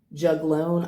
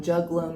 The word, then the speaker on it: juglone: Juglone, I believe, is how the toxin is pronounced, but what's important to